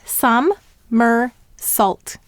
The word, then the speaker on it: somersault: We have sum-mer-salt. 3 syllables. The first syllable is sum. S-a-m. The second syllable is mer. M-er. And this is the er of her.